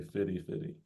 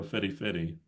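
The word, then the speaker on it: fifty-fifty: But um we sometimes change the pronunciation, we say fitty fitty. If you want to if you want to pay half and half, then you can say, "Oh, let's go fitty fitty."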